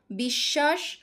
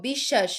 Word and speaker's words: বিশ্বাস: দেখো বিশ্বাস বিশ্বাস যে শব্দটা এটার মাঝখানে মধ্যে বফলা সংযুক্ত আছে। তাহলে এখানে কি হয়ে যাচ্ছে? সেই ব্যঞ্জনের এই যে বিশ্বাস তালব্যস্য এটার কি দ্বিত উচ্চারণ হচ্ছে। এটার ডাবল উচ্চারণ হচ্ছে।